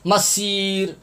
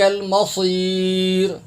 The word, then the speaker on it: الْمَصِيرُ: یہ صاد کے اوپر آپ گول دائرہ دیکھ رہے ہیں، یہاں پر اکثر حضرات سین پڑھتے ہیں، سیٹی کی آواز نکالتے ہیں، سین پڑھتے ہیں. مسیر مسیر، یہ تلفظ بھی آپ دیکھ لیں.